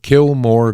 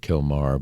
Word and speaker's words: Kilmar: It's all again about Kilmore Garcia. I know his name is not Kilmore, but it fits and it sounds right. And it's I guess they pronounce it Kilmar, but I call him